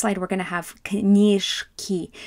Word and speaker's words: книжки: We've got, on the next slide, we're going to have knishki. You don't pronounce this as a zh. You're going to do it as a voiceless.